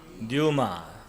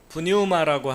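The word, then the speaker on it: πνεῦμα: 그다음에 헬라어로는 영을 뉴마 프뉴마라고 하는데 피를 발음하기도 하고 안 하기도 하는데 영어에서는 안 합니다.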